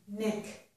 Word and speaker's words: knick: But this one I don't hear. It's N, knick. The K is silent.